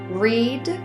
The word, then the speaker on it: read: book twice last summer you may notice that read and read have the same spelling the way to know how to pronounce it will be based on the context of the sentence in this example we